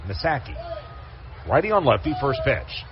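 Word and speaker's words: Missaki: that I apologize but he spells his last name m i SS a k i masaki righty on Lefty first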